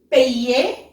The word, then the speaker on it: payer: Payer. Payer. So YER has sound as ye. Ye. Okay, so it will become payer. Payer.